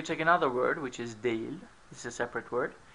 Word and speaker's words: değil: Öğretmen değil. This is written değil, but usually pronounced değil, as if instead of e there's an e, okay?